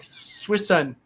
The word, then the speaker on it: Suisun: So and don't think you're going to find Suisun on a map spelled phonetically as Suisun. Right? It's like Suisun. It's like Swissun. Yeah. S-U-I-S-U-N. It is not spelled like it's said.